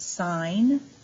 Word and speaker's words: sine: Then we have SIN, which is pronounced sine, capital long I.